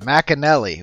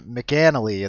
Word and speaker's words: McInerney: for for pronunciation person is it mcanally is that the correct way to say it this McInerney Mack and Nellie all right okay Mack and Nellie we know that now